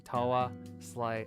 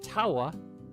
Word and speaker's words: Tawa: Pronouncing Tawa is just like saying tower in British. British is Tawa.